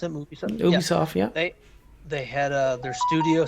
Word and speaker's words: Ubisoft: That's how you pronounce it? Ubisoft, yeah.